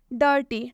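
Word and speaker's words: dirty: किया जा रहा है डर्टी ड में भी आई है और आई के बाद से आर आया हुआ है इसलिए इस आई का उच्चारण अ से किया गया ड ड प्लस आधा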